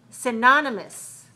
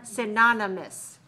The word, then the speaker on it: synonymous: very similar to it but when you hear it it's different because the stress is different synonymous synonymous but the stress changes it's not on the first syllable anymore where is the stress